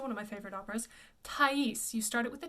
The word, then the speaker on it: Thaïs: You start it with a T, but then the I has what's often called an umlaut over the top, those two dots, and that indicates that both vowels are pronounced. So it's going to be Thaïs instead of tes or tes or anything else.